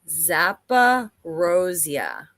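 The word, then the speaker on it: Zaporizhzhia: you're really you're awesome uh moderator there it's pronounced zappa rosia zappa rosia thank you daryl thank you very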